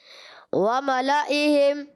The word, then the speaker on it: وَمَلَئِهِمْ: وَمَلَئِهِمْ. اچھا وَمَلَئِهِمْ کے ہجے کر کے بتائیں. واو زبر وا میم زبر ما وما لام زبر لا وملا حمزہ زیر ای وملائی ہا میم زیر ہم وملائہم.